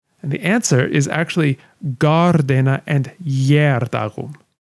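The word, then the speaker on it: Gār-Dena: the answer is actually gardena and even though the two words don't sound like they start with the same sound to us after all one is g and one is ya gardena in the old english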